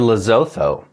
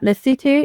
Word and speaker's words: Lesotho: want to go to lzo l leoo l s o t h don't know if it's a country or a city don't say it like that don't say it like that lutu is a very small landlocked